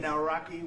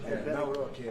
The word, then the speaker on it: Nawrocki: It's a great pleasure to have President Nawrocki with us of Poland.